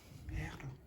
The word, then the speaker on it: perro: So for example, if I was to try to pronounce the word dog in Spanish, perro. You understand it? No, because it's all like pero, no perro.